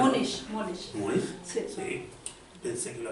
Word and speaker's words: Múnich: ¿Lo pronunciaría? Múnich. ¿Múnich?